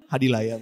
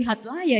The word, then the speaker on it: Hadilaya: Hadilaya, Mbak. Hadilaya. Oh, saya bacanya tadi Hadlaya ya Pak ya.